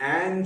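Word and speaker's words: an: अच्छा, ये एन जो है दो अलग अलग तरीके से फिर से प्रोनाउंस होता है। जब इसको स्ट्रांगली प्रोनाउंस करना हो, यानी जब आपको इस पर स्ट्रेस देनी हो, दबाव डालना हो, तब आप इसको एन कहते हो, यानी खोलकर, यानी वो वाला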